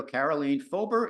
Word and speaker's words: Karoleen Fober: your life so welcome to guys guys radio carolene fober is it is that did I pronounce that correctly it's perfect yes thank you